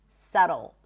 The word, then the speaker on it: subtle: And subtle.